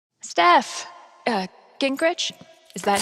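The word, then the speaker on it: Gingrich: Steph uh Grich, is that how you say it?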